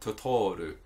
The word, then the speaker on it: Totoro: It's a mispronunciation of the word troll, which in Japanese is Tororu. So instead of, it would be Tororu. So instead of Tororu, she said Totoru, which is not in